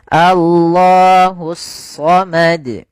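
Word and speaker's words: اللَّهُ الصَّمَدُ: Yaitu alif lam yang ditulis tapi tidak dibaca lamnya. Ya, langsung ke huruf shad. Maka sehingga langsung di sini shadnya berharakat tasydid. Allahusad.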